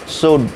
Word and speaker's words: should: शुड, शुल्ड नहीं बोलिएगा, cooled नहीं बोलिएगा, L साइलेंट है।